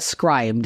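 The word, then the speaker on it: Scribd: recommended scrib scribed yeah I I call it scribed scribed yeah I've heard so so many different pronunciations have a bit of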